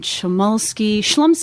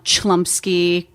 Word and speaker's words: Chlumsky: do people usually say i've gotten chamulski the most common error um chlumsky you know and then